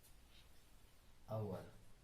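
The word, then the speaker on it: hour: দেখো কি আছে, যেমন আওয়ার। আওয়ার মানে কি না, ঘন্টা, হুম। এর উচ্চারণটা কি, আওয়ার।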